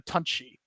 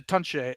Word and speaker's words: Tunche: Yeah, it's a Tunche is how he pronounces it. But like, okay. He saw it and didn't correct me. So I am forever having to be like, yes, I mispronounced it.